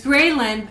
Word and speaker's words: ghrelin: Yeah, so it's spelled like this. Oh, or grelin? it's Graylin, which is Okay.